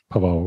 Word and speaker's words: Pavao: Also im nächsten Podcast, dann sprechen wir noch über Genrefilme, dann mit Pavao. Habe ich den Namen richtig ausgesprochen? Ja. Pavao, okay.